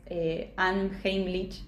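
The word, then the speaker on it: Unheimlich: Es una palabra en alemán que seguramente la voy a pronunciar mal, pero es Anheimlich.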